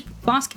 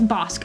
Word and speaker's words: Bosc: It seems like Bosch is Bosque is pronounced with a K sound.